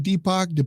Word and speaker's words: Deepak: I think it's Deepak. Is that right? Deepak? Yeah, you said it right.